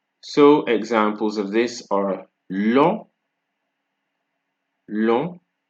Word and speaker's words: long: Then the next silent letter we're going to look at is G, right? So examples of this are long, long, like it's long, c'est long, right?